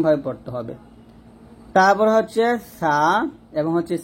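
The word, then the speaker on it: ث: সেটা হচ্ছে সাটা আমরা জিহ্বার আগা উপরে দাঁতের আগার সঙ্গে লাগাবো, পাতলা করে উচ্চারণ করবো। আর সিনটা জিহ্বাটা নিচে দাঁতের মাঝে লাগবে, নিচে দাঁতের মাঝখানে লাগবে।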